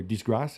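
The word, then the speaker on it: disgrâce: A disgrace in France is something that's or disgrass is how you say it.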